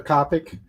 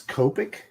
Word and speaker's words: Copic: Is Copic? It's a Japanese brand, so maybe, right? Isn't it Japanese? Yeah. It's Japanese. That might be Copic is probably. C-O-P-I-C. But everyone I've ever heard pronounces it Copic.